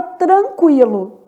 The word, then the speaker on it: tranquilo: Na palavra tranquilo, o N também é nulo, quer dizer, forma dígrafo, não é pronunciado.